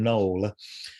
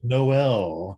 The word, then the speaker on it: Noel: dramatic noel till and a lot of people don't know how to pronounce his name and he would it would drive him crazy if people called him knoll and he'd say noel and then i've heard people call him tile and you know